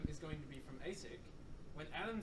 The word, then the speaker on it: ASIC: going to be from asic when adam says hi i'm from asic that's how you pronounce that yes everyone please say hey sick it's asic thank you let's start